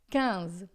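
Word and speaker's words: quinze: In em francês, a gente vai dizer a Então o 15 a gente escreve da mesma forma, mas a gente fala cans, tá?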